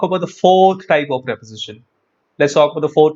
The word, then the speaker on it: preposition: force of a single preposition are called phrase prepositions or you can call them prepositional phrases prepositional phrases and by the way don't pronounce it pre-position pronounce it as preposition because these are phrases